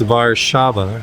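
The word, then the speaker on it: Warszawa: mind and we and it's VAR Shava is how you say Warsaw vaba yeah so this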